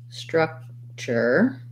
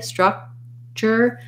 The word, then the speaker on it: structure: from structure structure um rewriting this as this is a vowel schwa so thinking about that as a and then build from the first r sound ra straw struck we put a k there but in structure we don't really release it so i go up to the k structure and i release it right into the ch